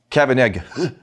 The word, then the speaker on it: Kavanagh: If you're going to pronounce it accurately, it's Kavanagh.